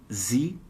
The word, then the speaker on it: Siri: A pronúncia em alemão é Siri. Pode fazer o R vibrando aqui, o sininho dentro da boca, Siri, ou a ponta da língua, Siri. Hey Siri ou Hey Siri. Sílaba tônica é a primeira.